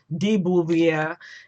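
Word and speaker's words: de Beauvoir: time Simone bubier if you say her name Daboo via and I loved that book and that's definitely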